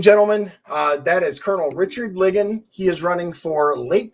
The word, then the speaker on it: Ligon: I keep mispronouncing your name. It's Ligon, right?